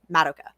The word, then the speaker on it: Madoka: magi madoka magica and i already know you're gonna disagree with me about the pronunciation of her name but i re-watched the sub just for this episode and that's how they say her name the entire time madoka so i guess we were wrong even though it feels like an anglicization i'm not gonna argue